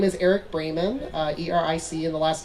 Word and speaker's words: Braman: my name is eric bremen uh e-r-i-c and the last name is spelled like bra man but it's pronounced bremen um i have a